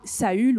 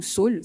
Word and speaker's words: Saul: homme qui s'appelait autrefois saü ou Saul ça dépend comment on le prononce son prénom signifie désirer